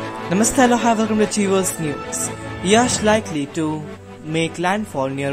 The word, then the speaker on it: Yaas: category before making landfall the severe cyclonic storm yes pronounced as yash over east east central bay of bengal moved